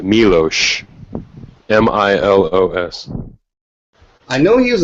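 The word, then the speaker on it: Miloš: foreign I know it's his name is pronounced milosh m-i-l-o-s I know he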